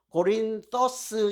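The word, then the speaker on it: Κόρινθος: 원래 헬라어로 고린토스 하면 좀 그렇고요. TH 발음으로 고린토스 이 말이 고린도예요.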